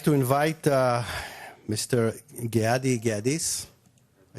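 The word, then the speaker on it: Geadis: Gadis.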